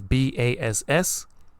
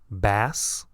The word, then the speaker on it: bass: You see, so this word is B-A-S-S. It can be pronounced as bass, the fish, or bass, the musical instrument.